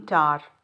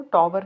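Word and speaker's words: tower: झुकाव होता है लीनिंग टार टार मींस एक बहुत लंबा जिसे कह लीजिए आप पिलर टाइप टॉर बोलते हैं इसको टॉवर नहीं कहते डब्लू साइलेंट होता है इसमें लीनिंग टार ऑफ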